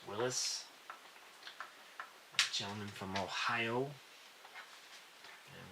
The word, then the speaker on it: Willys: And that Willys is actually pronounced Willis.